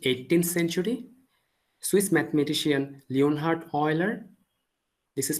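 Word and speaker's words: Euler: we are getting outputs but it was Leonard Oiler in mid 18th century Swiss mathematician Leonard Oiler this is pronounced as all oer not eer Oiler so mathematician Oiler conceived the idea of function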